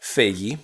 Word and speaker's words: Feige: Feige, that's right.